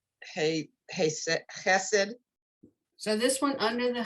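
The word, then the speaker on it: חֶסֶד: Chesed, not Chas- Hesed.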